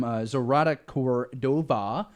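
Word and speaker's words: Zoraida Córdova: And this one is from Zorata Cordova, is how you say the name, and author of the Vicious Deep trilogy.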